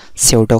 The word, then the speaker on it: pseudo: इसकी spelling P से start होती है, लेकिन इसको pronounce हम pseudo करते हैं.